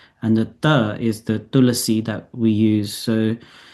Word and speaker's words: tulasi: But one common one I've noticed is people say tulasi, or it's tulsi, but tulasi is the Sanskrit. In Hindi, it's tulsi. They've just taken this slight out of the pronunciation. But tulasi is this, and some people do a sharper t because it's a tulsi. They say tulsi plant, but it's not tulsi because that's the sharper t, and the th is